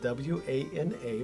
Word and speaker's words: Wana: It's spelled W-A-N-A, but the pronunciation is Wana.